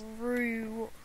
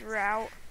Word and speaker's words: route: I don't want to pick a rue. It's pronounced route.